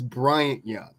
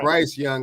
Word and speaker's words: Bryant Young: a hall of fame you don't even say his name right his name is bryant young you're saying bryce young like he's just some guy because you don't know